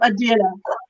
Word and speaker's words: Adela: At the end of the card, I read Adele instead of Adela.